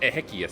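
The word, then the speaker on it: Exequias: I think it's actually pronounced Ehius.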